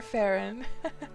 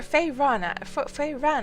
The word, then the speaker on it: Feyran: Or Feyran actually. That's how Griff says your name. I should learn how to say it the same way. Feyran. It's going to take some getting used to though, because I've always just said Farron, I think.